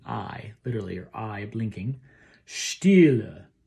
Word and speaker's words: Stille: When you go down to Stille, don't accent that last syllable. Just come off at Stille.